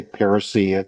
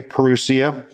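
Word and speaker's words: parousia: talking about prusia or you'll hear people say parasia which is probably the more correct way to say it but I say perusia we've been talking about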